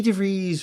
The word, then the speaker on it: DeVries: I had gotten a text from Vicky DeVries, Rhymes with Cheese, that her and Nancy Lowry were in New York City already.